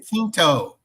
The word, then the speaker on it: Quinto: Quinto. It's Spanish. How can you not say it right? Quinto. Q-U-I.